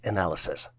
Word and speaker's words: analyses: The plural version for analysis is spelled as analyses and is pronounced as analysis.